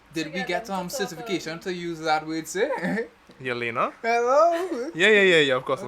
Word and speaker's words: Yelena: Yelena? Hello? Yeah, of course it was. Okay. We were talking and she was like, once he didn't pronounce it like Helena.